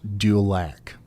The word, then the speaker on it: Dulac: Okay, so I've been saying Duloc. Aboud says it's pronounced Dulac.